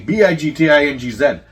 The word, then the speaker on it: Bigtingz: That's why I always say BIGTINGZ. Because people put big things. No, ting, man. Yeah, they spell it with an H and then the Z. Or it's BIGTINGZ. It's like the drink.